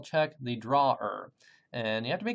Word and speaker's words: drawer: would call Chuck the drawer and you have to be careful here this word is not pronounced like the place you store your socks uh it's like the